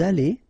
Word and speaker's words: allez: Remember, a Z at the end here will give you this A sound.